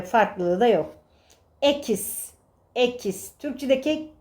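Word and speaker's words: equis: Ekis. Ekis Türkçedeki k sesi gibi okunur.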